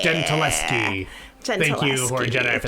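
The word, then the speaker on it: Gentileschi: Oh, it's Gentiliski. Bad. Says Horde Jedi. Gentiliski. Gentiliski. Thank you, Horde Jedi, for the pronunciation guy.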